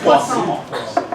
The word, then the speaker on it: Poisson: It's actually You say croissant? No, Poisson. like the fish. Yeah, it's spelled like this, but it's French, so you have to make it all That's fancy. poison. No, poisson. It's 2 S's. It's poisson.